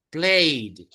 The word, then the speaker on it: played: Por ejemplo, aquí, played. Ahí termina en D. Played. Esa E no se pronuncia, played.